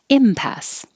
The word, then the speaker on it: impasse: a d aesthetic impasse forget about all these extra letters it's just pass impasse pagan pagan gumption it